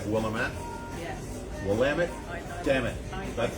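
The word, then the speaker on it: Willamette: And for those of you who don't know and you see it when you're out there, Wamut, it's pronounced Wamut. It looks like Wamett. Yes, Wamit.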